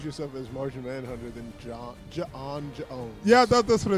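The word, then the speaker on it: J'onn J'onzz: Right, but it's pronounced like John Jones.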